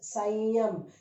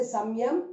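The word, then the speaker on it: संयम: You say, because ya has come there, you say it is sanyam. You don't say samyam, it is sanyam.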